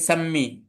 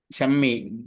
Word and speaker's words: শাম্মী: শাম্মী, শাম্মী আপনার নাম নাকি সাম্মী? উচ্চারণটা কি আসলে? শাম্মু শাম্মী। শাম্মি তালবসা নাকি দন্তসা, এটা জিজ্ঞেস করছি আর কি। তালবস তালবসা, আচ্ছা শাম্মী, ঠিক আছে, পড়েন বিসমিল্লাহ।